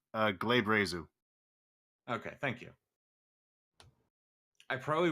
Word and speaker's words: glabrezu: Also, just as a thing, that demon has 3 fucking pronunciations, but the most common one is Glabrezu.